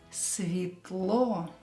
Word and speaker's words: Светло: Pay attention to the S letter. I heard it pronounced as Z. It's S. Светло. Светло. And of course, E is not stressed, so we will pronounce it as E.